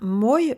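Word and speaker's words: мой: Le radical est bien moj formé de mo avec le son y derrière. Moj a une seule syllabe, donc le O est forcément accentué.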